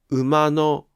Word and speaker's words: 馬の: ところが、馬のは助詞のピッチが下がりません。